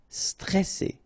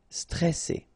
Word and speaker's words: stressé: So C, alright, and then here you get this E before the double S, so it will open the pronunciation of the E, stressé, stressé.